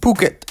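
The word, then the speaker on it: Phuket: went to P Island and we rode from Pucket Island actually it's pronounced puket Island because one of my friends that's a local there actually corrected in my grammar be careful when going out and pukit because there is a lot of adultery activities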